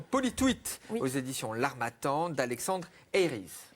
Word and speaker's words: Eyries: aux éditions L'Harmattan d'Alexandre Eyries. Oui, vous le prononcez à l'anglaise. Eyries, ok. Eyries. Oui, donc c'est un ouvrage assez savant, assez universitaire dans le style.